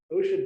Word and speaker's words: OSHA: by the Occupational Safety and Health Administration, often pronounced OSHA.